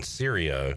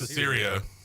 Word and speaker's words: Desirio: I've been saying Sirio. It's Desirio. Okay. There's no A. No, it was like a long I or a hard I.